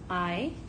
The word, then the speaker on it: hay: six different ways but in this case I which it looks like hey but we pronounce it like the eye the eyes you use to see it's going to mean